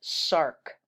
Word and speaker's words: src: particular type of gene called sarc src we pronounce it sarc so this is a normal gene this is